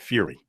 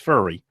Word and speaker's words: Furry: Too bad he doesn't pronounce it Fury.